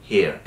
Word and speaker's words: hear: এখানে অর্থ কিন্তু হেয়ার, উচ্চারণটা অনেকটা সেম, অনেকটাই সেম, বাট স্পেলিংগত দিক দিয়ে বিশাল পার্থক্য, যে এইচ ই এ আর, ওকে, এবং উচ্চারণটা করতে হবে কি, হেয়ার। আমেরিকানরা অনেকটা বলে হেয়ার আর ব্রিটিশরা বলে হেয়ার, একটু পার্থক্য আছে আমেরিকান এবং ব্রিটিশ ইংলিশে। তবে আপনি যদি সিম্পলি হেয়ার, আর এর উচ্চারণটা অ্যাট দ্য এন্ড 40% 30% এরকম করলেই হবে, হেয়ার এরকম না।